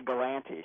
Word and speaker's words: Galante: Dante and Galante rhymes, but, the last name's Galante, correct? Yeah, it's actually Galante.